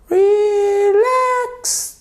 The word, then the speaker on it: relax: Relax, take it easy. Bon, c'est catastrophique, mais vous avez compris, ok? To relax, relax, relax. Vous sentez bien? Relax. L'accentuation sur la seconde syllabe.